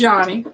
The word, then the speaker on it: Yanni: Y'all are correct. It is Yanni.